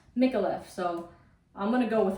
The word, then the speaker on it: Micallef: One girl said that, no, it's pronounced Micallef. The L's are like, you know, like in Spanish. And then the next girl was like, no, it's Micallef. So I'm gonna go with her. I'm gonna say Micallef.